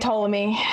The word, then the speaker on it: Ptolemy: My child will be named Ptolemy, and they'll Silent P? No, it's gonna be Silent P.